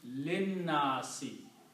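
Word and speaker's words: لِلنَّاسِ: So, and this alif is not pronounced now, so it becomes linnasi.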